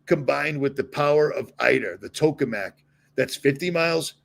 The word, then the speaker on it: ITER: They pronounce it eater, but I call it ITER. I always have.